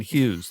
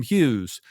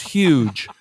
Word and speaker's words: Hughes: Hughes. So the Filipino nurse I had could not pronounce Hughes, and he thought it was huge.